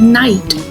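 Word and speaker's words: knight: So K is silent here.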